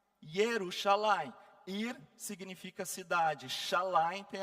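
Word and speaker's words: ירושלים: Agora, algumas curiosidades assim, Jerusalém, que se fala Jerusalém. Yerusalim.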